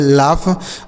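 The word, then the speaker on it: laugh: इस ए यू का उच्चारण अ जी एस फ। इसे पढ़ेंगे लाफ।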